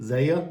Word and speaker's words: Zaay: Za green I think that's how you say her first name Za Za a a y That's how I pronounce it uh I hope